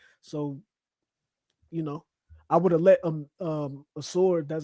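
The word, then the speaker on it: Ausar: So, I would have let Asor, that's how you pronounce his name.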